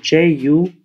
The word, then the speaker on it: ju: Same with J-U, Ju, and X-U, Qu. So after X, Q, and J, U is always pronounced as an umlaut, U.